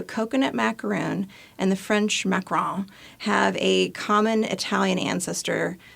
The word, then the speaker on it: macaron: F I've always been told French has me macaron yeah um but that's how I differentiate when